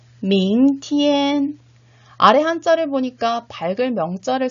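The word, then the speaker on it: 明天: 밍, 그 다음에 두 번째 음절은 티엔이라고 발음을 하셔야 되겠죠. 원어민 선생님의 정확한 발음을 듣고 따라 발음해 보도록 하겠습니다. 明天见 네, 밍티엔.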